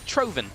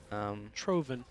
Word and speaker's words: Troven: And I heard it was Troven, by the way, is how you pronounce that name. Okay. Troven. Yeah. I will keep that in mind. Emphasis on the O. And V versus W.